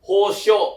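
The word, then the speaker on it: 保証: Berarti cara baca itu adalah hosho.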